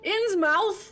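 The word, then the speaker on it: Innsmouth: people from insmith and pronounce it like mouth inn's mouth oh no oh ouch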